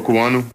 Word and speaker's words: Okuayinonu: We've been butchered it. Here you go, Baldy. Samuel Okuayinonu.